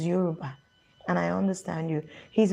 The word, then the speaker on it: Yoruba: when i was a you rugba man but it's yoruba that's the pronunciation it's yoruba and i understand you